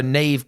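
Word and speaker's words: Niamh: weird ones like so Nave Kelly yes Dave Kelly like that was one of the players and her name is spelled n-i-a-m-h uh Siobhan is like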